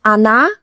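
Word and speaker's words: она: On is stressed on the o on. But in ana, an ano ani, the first o is unstressed. So it sounds like a.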